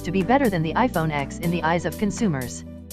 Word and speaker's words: iPhone X: 10 Apple's iPhone 8 was followed by the iPhone X pronounced 10 but Samsung refused to follow the successor